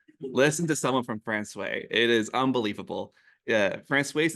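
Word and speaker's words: François: No, it is not Francois. You would think it would be Francois, but it's not. In fact, this town is called Francois.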